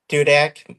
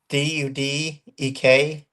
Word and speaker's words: Dudek: I'm on X, and it's at Dudak. My last name .. All right, I'm gonna try to put that in there. Can you spell that for everybody? Yep, DUDEK.